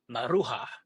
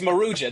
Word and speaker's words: Maruja: I kept saying I'm from the southwest, so I always said Marua, which is not how you say it's Maruja.